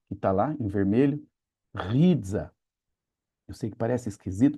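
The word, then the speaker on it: ῥίζα: Tem som de R, apesar de parecer um P. Rizza.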